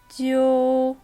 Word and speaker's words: 揪: 읽을 때는 오히려 되살려서 오를 넣고 지우가 아닌 지어우 발음이 돼야 되며 후이가 아니라 후에이, 뚠이 아니라 뚠이 돼야 되는 거예요. 전체 같이 읽어볼게요. 揪灰蹲 그 다음 규칙입니다.